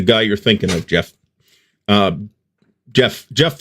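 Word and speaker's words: Geoff: Jeff spelled with the G, though.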